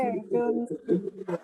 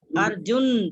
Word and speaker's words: अर्जुन: यथैधांसि समिधोऽग्निर्भस्मसात् कुरुते अर्जुन ज्ञानाग्निः सर्वकर्माणि भस्मसात् कुरुते तथा। हाँ जी, जहाँ अर्जुन बोला, अर्जुन न की आवाज थोड़ी लंबी, न पूरा है, ठीक है, बाकी बिल्कुल ठीक है।